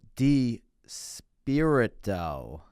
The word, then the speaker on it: DiSpirito: podcast with you with sat down with d spirit doe is actually how you pronounce it you'll see at the beginning of